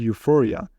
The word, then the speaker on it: euphoria: treating with chemicals and next EU which pronounced U for example euphoria that means extreme happiness